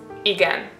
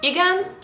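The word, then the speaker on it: igen: say yes and no yes in Hungarian means again i g n I think it's pretty straightforward nothing uh crazy is happening here you just pronounce basically whatever you see so you say again and if you want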